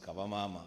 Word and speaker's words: Kavamama: The Speaker, it is pronounced Kavamama and loosely translated to mother is better.